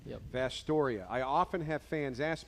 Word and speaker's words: Vasturia: And that is how you pronounce his last name, yep. Vastoria.